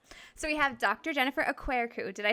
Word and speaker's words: Okwerekwu: because I don't want to like butcher it o queru aeru really pretty everyone butchers my last name so